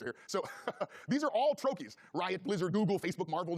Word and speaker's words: trochee: I asked, but I don't know how to pronounce it. So I think it's trochee is what I think it is.